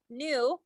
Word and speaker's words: nu: Energy is equal to H, and this is called nu.